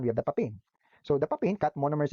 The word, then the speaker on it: papain: So sabi nila, so pag papain, the monomer is cut into 3 parts. So tandaan nyo lang daw, syllables. Papain. Okay, so papain, 3 syllables, 3 parts.